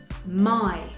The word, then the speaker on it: my: Lo mismo pasa con my, my se escribe Y, pero se pronuncia a I, my.